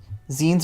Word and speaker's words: zine: Yeah, it's pronounced zine because it's like magazine.